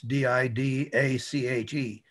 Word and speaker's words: Didache: It's D-I-D-A-C-H-E. Didache. C-H-E is pronounced K. It's Greek.